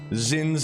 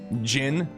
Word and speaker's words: Zin: yesterday about how Zen zin's name phonetically us English speakers say Zin but it's pronounced Jin so I'm wondering if